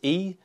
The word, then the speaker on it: e-twow: Today we're going to be reviewing the newest scooter from e-twow, or e-twow, depending on how you pronounce it. It's e-twow.